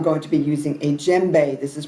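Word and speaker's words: djembe: to be using a JBE this is pronounced ounc uh spelled DJ m b e you don't pronounce the d oh by the way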